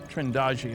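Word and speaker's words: Trindade: of the picture and here's a sequence from trindad trendi I'm told it's pronounced 600 Mi east of the coast of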